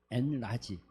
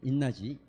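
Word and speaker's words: enlarge: 그거 하기 전에 우리 지난 시간에 나눴던 거 짧게, 엔라지. 여러분, 이거 기억하시죠? 기억하십니까? 기억해요? 이는 뭐죠? 라지, 엔라지, 인라지, 엔이 아니고 인라지입니다. 인라지라고 읽어야 됩니다.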